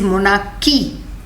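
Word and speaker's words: monarchy: Don't say मोनार्ची, इट इज मोनार्की. H is silent.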